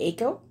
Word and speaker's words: Akiko: Echo, guess what that's how you say it. Echo, Akiko. Can type very fast.